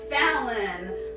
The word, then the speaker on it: Fallon: His name does rhyme with Fallon, so I think about Jimmy Fallon every time I read his name, even though there's no connection.